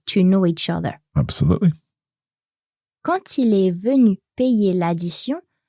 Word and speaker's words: quand: So when we have quand followed by a vowel, the D on the end is pronounced, but it's pronounced as a T. So quand il est venu payer